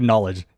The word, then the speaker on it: knowledge: __ ] right yeah like who looked at a word and was like knowledge that's what made me think of it too who who looked at that was like you know what this needs is a K in front why I guess yeah like